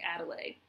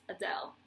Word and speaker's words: Adele: a d l e to me that looks like adelay but I'm 100% sure that's not how it's pronounced I think it's Adele not Adele not ad